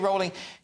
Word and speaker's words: Rowling: It's museums cancels JK Rowling over super hateful trans views. Okay, and her name's Rowling, by the way. Rhyme with bowling.